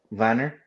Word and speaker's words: Wanner: his name wrong because I say his name like Timo Werner. It's Wanner, isn't it? Is that how you say it? Paul Vanner. Is it Vanner? Okay, Vanner. Mm-hmm. You say it with a V, not a W.